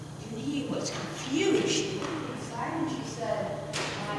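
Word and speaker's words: Unhei: Unae, the girl said, scrunching up her face. Ew, Unae, she chanted. Oh no, Yunhae corrected. It's spelled U. H-E-I. It's pronounced Yunhae.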